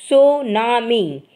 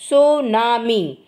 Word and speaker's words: tsunami: number of people and property the word tsunami pronounced tunami comes from two Japanese words Su means Harbor and Nami means wave the word tsunami pronounced tunami comes from two Japanese words Su means Harbor